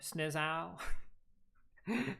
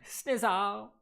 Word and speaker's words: Snizow: Nobody could pronounce my name before. Snizow. Snizow. Like how it's said.